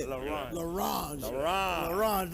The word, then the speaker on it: L'Orange: L'Orange.